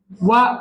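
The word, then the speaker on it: は: Sa hiragana ha yan Pero kapag ginamit niyo siya sa particle wa ang pronunciation nian wa nasa particle yan p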